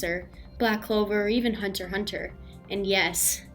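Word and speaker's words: Hunter × Hunter: black clover or even hunter hunter and yes I say hunter hunter not hunter x hunter Hunter hunter is the only proper way to say it that is but no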